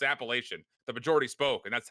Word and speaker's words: Appalachian: We got flamed for how we were pronouncing it, but it's Appalachian.